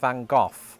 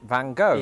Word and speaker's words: Van Gogh: Let's see what I pronounced it Vincent Van Gooff presumably because somebody saw the word cough and thought eh similar.